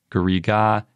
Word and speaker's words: garriga: And it's pronounced Garrig in French or Garriga in Occitan.